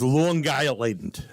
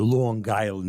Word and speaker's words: Long Island: series starting tonight with Long Island. That's how they say it up there, Long Island. They pronounce the G.